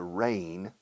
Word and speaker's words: reign: Reign, spelled R-E-I-G-N, reign, o sea, reinado, G muda, se pronuncia igual que lluvia, rain.